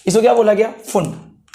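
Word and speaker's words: Pfund: इसको क्या बोला गया, फुंड, पी फुंड बोला गया वैसे तो, फुंड, पी फुंड, ठीक है। पी साइलेंट यहां पे ध्यान रखना, ठीक है।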